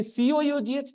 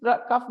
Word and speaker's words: cough: लेकिन अब बोलो गाली ना निकालू तो क्यों ना निकालू कि COUGH कफ नहीं होगा, कॉफ होगा. भाई कौन बनाया ये लैंग्वेज? हैं? TOUGH टफ होगा, ROUGH रफ होगा, लेकिन COUGH कफ नहीं हो सकता.